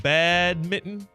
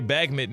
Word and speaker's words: badminton: That's how you pronounce it. Badminton. I know if you were trying to do like a goat thing or whatever. No, I wasn't. It just was. Okay. I used to say bagminton until like last week.